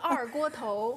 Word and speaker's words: 二锅头: You might actually have to help me with the pronunciation there. This is 二锅头。